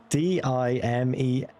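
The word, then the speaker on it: Dimez: So if anyone want to if anyone wants to replace that D M I No, D I M E Z is pronounced as dime. So, how am I supposed to say that?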